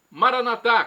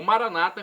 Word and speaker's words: Maranata: E agora eu clamo do aramaico Maranatá, como dizemos nós católicos, ou Maranata, como dizem nossos irmãos separados, os evangélicos ou protestantes. Não importa a pronúncia, o significado é o mesmo.